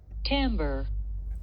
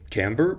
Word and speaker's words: timbre: exactly is tomber and how on Earth are you really supposed to pronounce this French word tamber okay tamber it is so it's not just